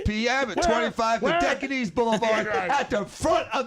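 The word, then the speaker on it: Dodecanese: Dan, did he pronounce it right? It's Dodocanes.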